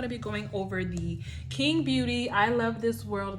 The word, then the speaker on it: QING: So King Beauty is the name. I believe that's how it's pronounced, but it's like QING. So yeah, it definitely says to find them on Facebook, Instagram, and YouTube.